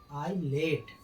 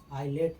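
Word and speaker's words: islet: आई लेट। आई लेट माने होता है छोटा टापू।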